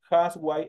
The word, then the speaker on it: housewife: que tenemos acá arriba es una H como la la nuestra la que se encuentra eh la que se encuentra en español que es una H sin sonido